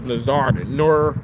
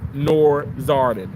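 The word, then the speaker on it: Nowzaradan: Now because they can't pronounce his name, but his name is Nazardin, Nur Zardin.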